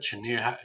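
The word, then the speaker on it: Cheniere: How do you pronounce that? Chener.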